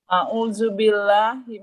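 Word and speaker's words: أعوذ بالله: Yang pertama bacanya adalah a'udzubil ya a ya bukan ain. Itu ain. A'udzubillahi minasyaitonirrajim.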